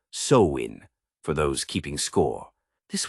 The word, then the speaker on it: Samhain: Picture the ancient Kelts in what's now Ireland, Scotland, and parts of France, celebrating a festival called Samhine, pronounced Soin for those keeping score.